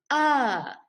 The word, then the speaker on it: a: one letter long and the sight word is a or you can pronounce it uh for example i have